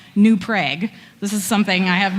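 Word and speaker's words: New Prague: dish first of all they also pronounce a town that is clearly named after Prague new prag this is something I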